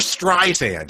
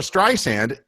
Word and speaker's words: Streisand: ask Siri about Barbara Streisand, it refers to her as Streisand instead of Streisand, like sand in a desert.